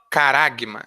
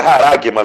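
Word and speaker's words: χάραγμα: A outra palavra traduzida como marca é caragma. Essa palavra significa, de acordo com Vini, um selo. Ou se pronuncia haragma, viu, Brandel? Obrigado. É haragma.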